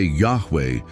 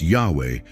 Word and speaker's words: Yahweh: When we say Yahweh, we are affirming His constant self-existent nature.